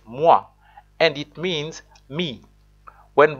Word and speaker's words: moi: the name in regular letters pronunciations in French pronouncing is quite different compared to English for example a word like Moy my best bet is Kenyan speakers are wondering